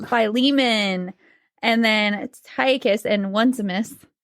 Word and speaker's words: Philemon: And then also there was a letter to Flaming. Nope. Flaming. Just say it. Philemon.